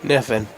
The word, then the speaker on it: Kniffen: Kniffen or Niffen? Niffen. Niffen. See, Gannon Knable. Yeah. The KN for Niffen, and the K is silent.